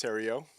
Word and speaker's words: Theriault: my name is and it's pronounced Theriot it took me five